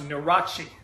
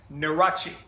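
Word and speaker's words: Nurhaci: in you are a che CI and it's pronounced neurotic neurotic neurotic the Thunder achi no rachi sometimes I'm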